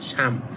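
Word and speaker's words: 삶: এটা হয়ে যাবে তিন আপনার লিখতে হবে এভাবে রিউল আর মিউম নিচে বাচ্চিম থাকবে রিউল আর মিউম কিন্তু উচ্চারণ করবেন সাম কিন্তু আপনি যদি সাম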